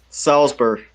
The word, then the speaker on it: Salisbury: another popular one salisbury salzburg yeah salisbury but they're hurt people there are people who see that and pronounce the i yeah salisbury it's salisbury